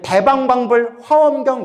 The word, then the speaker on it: 대방광불화엄경: 화 화엄경 대방광불화엄경 우리 대방광불 화엄경 이러죠 예 원래는 대방광 뛰고 불 뛰고 화엄경 대방광불화엄경 원래는 이렇게 발음해야 정확하 대요 화엄경을 설법 하셨는데 화경은